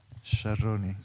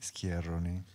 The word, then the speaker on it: Sciarroni: Sciarroni. Yeah, but in France they say Sciarroni.